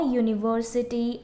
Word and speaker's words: university: So if we are pronouncing these words, you will find that it is not U, the vowel U, but it is Y-O-U. It sounds like Y-O-U. That's why it comes under exceptional case and we use a university and a utensil.